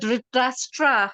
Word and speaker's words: Dhritarashtra: So the whole word Dhritarashtra, how do you say the name?